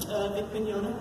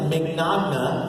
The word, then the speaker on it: Mignogna: It's Italian. It looks like Mignogna, right? But the GN combination is makes a sound, like lasagna, Bologna, right? Montagna, filet mignon. It's a lot scarier than it looks.